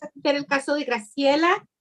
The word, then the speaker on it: Graciela: Señora, pronuncie su nombre de nuevo. First name as well. También su primer nombre. Graciela. Graciela.